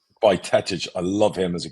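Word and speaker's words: Bajčetić: I love, how do we pronounce it? Bjetovic, who got injured at the end of last season. I loved what he was doing when he was. I think it's Bajcetic. Bajcetic.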